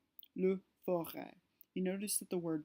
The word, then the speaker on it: forêt: forest, le forêt, le forêt. You notice that the word does not change pronunciation, but instead indicates that the word used to be spelled F-O-R-E-S-T, even though now the S is not pronounced.